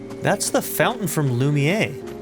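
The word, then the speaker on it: Lumière: I never know whether I should pronounce it Lumier or Lumiere. I think both pronunciations would be considered depending on where you're at to be appropriate. I think the French probably pronounce it Lumier. Correct. And then um Lumiere would be more of a other European sort of English pronunciation that's kind of just accepted.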